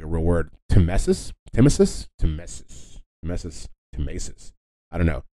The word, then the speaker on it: tmesis: Timesis.